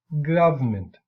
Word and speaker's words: government: But anyway, government, for example, is a 3-syllable word, government. But in the vernacular, that medial or mid unstressed syllable is deleted, and we have the pronunciation government.